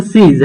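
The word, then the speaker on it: seize: সেইজ থাকলে, সেইজ না, এটা উচ্চারণ হচ্ছে সিজ।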